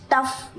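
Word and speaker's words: tough: जाने वाली आवाज़] हम बोलते हैं ना उसकी स्पेलिंग ये है आर ओ यू जी एच फिर टी ओ यू जी एच टफ यानी [नाक से की जाने वाली आवाज़] कि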